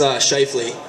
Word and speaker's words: Scheifele: So, pronounce my last name? It's Scheifele.